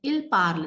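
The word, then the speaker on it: ils parlent: So il parle, ent, and we pronounce it as il parle. The ent at the end is not pronounced.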